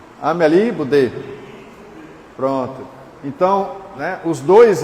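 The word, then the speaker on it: Amélie Boudet: que o casal Kardec, né, Allan Kardec, a Amel Budê, não é isso que pronuncia quem fala francês aí é Ameli Budê.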